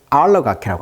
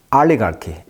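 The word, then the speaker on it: oligarchy: 올리가르히 러시아 말로는. 영어식 이름으로는 이제 알러가키라고 합니다. 알러가키. 강세가 이름절이 있어요. 영어식 발음은 알리가르키. 러시아 말로는 올리가르히.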